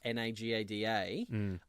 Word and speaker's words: naquadah: the town Naga da na ga da where they mine naquadah pronounced Naga da but spelled na qu Adah made no sense so yes